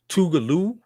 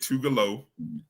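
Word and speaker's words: Tougaloo: Tugaloo not. Would you say Tugalo, Brian? I guilty of making the mistake of calling it Tougalo. It's Tugaloo.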